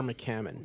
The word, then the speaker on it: McCammon: McCammon.